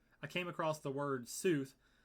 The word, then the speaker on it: sooth: So somehow I don't even remember how I came across the word sooth. It's spelled Soth with like a line over the O. It's like a sooth. You've heard of like soothsayer.